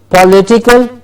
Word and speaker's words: political: yes next one political remember is not political it's not off its political lexicon gets distressed political yes political political and